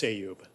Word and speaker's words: Ayub: Yeah, it's Ayub. Ayub. Long A, long U.